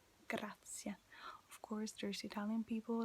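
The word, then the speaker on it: grazie: yes almost it's okay remember that e is e in spanish so it's like grazia of course there's italian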